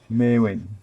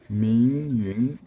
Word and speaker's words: Meiun: Her name is Meiun. I think that's a Japanese pronunciation of the Chinese characters. Meiun in Mandarin Chinese, meaning luminous cloud, bright cloud, or luminous cloud.